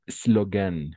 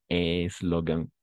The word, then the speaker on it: slogan: Vamos a pronunciar, vamos a comenzar la palabra por la S mismo. Le slogan. Y no eslogan, que tendemos como hispanohablantes a introducir una E ahí, ¿no? Eslogan, no. Slogan. Vamos a comenzar la palabra por la S misma.